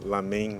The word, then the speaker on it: lamen: Na verdade, as duas pronúncias estão certas, né? É que lamen, ou melhor, lamen, né? É a pronúncia chinesa.